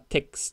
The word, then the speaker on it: TeX: わかってますけどあきらかにこれ x だからテックスて強制的に